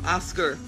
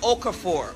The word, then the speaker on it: Okafor: on and this week it's Oscar I mispronounced it right right of the floor oh let me try that again for Okafor Okafor Oh go for don't butcher her name